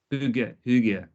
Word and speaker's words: hygge: Now we're talking about, and I'm probably going to pronounce this wrong. Hygge, Hygge, Hygge. Hygge, Yeah, that's it.